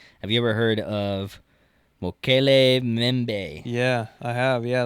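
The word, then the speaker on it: Mokele-mbembe: The M is silent. Mokele Bembe? Yeah. Okay, Mokele Bembe.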